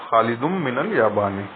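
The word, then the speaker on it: Khalidun min al-Yabani: When Khalidun comes before min, the noon sound of the tanween on the last letter of Khalid is assimilated to mim, and we pronounce it as Khalidum min al-Yabani.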